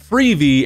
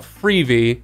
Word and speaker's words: Freevee: I don't know why they call it Freevee. I guess because it rhymes with TV, but regardless, it's a stupid name.